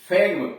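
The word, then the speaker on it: phlegm: यह है फैग्म, PHELGM, फैग्म, PHELGM, फैग्म, कफ। अब आइए GH पर। GH का उच्चारण, यानी जी के साथ यच आया हो तो कैसे उच्चारण करते हैं।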